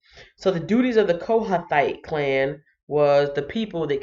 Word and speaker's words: Kohathite: I had the hardest time pronouncing this word or this name, Kohathite.